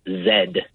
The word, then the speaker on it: Z: the letter z uh they don't pronounce it z it's zed oh yeah that's in